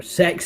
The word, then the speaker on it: Tesco: up to the counter at um K where I bought it from or sex as it's actually pronounced believe it or not I said look please